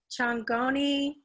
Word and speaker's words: Chongoni: Now, some of these words I'm going to let you just go ahead and tell me how to pronounce them, because Chongoni Rock Art Area? Chongoni, am I saying it correctly?